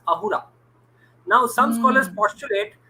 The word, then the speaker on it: Ahura: They cannot pronounce the s sound, so it becomes Ahura.